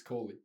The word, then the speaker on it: Coley: That's how do you pronounce it? I never asked you. It's Coley.